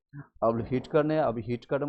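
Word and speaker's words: Whittaker: हिटक ने हिटक टकर इसमें स्पेलिंग है डब्लू आई लेकिन स्पेलिंग इसको उच्चारण करेंगे हिटक हिटक कब किया था 1600 सॉरी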